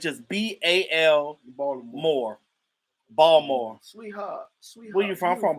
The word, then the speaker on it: Baltimore: look the sugar daddy saying ball more you better not pronounce that t this this is how